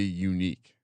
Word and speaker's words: Yannick: his first name um yannick yannick way did you know it's actually unique unique yeah shout out to